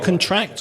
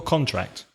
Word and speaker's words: contract: we actually contract from is it contract or contract contract and tract because it's a contract